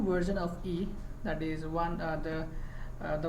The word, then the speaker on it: Yii: developing modern web application normally it is pronounced as e and this equal mob